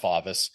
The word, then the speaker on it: Favis: is at my last name is pronounced favis oh sorry bud it's okay no problem f